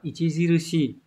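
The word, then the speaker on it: 著しい: Đây trường này đọc là Ichijirushi.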